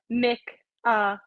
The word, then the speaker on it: Michalyshen: So it's Michalyshen. But I think when I wrote it down phonetically, like it could have gone either way.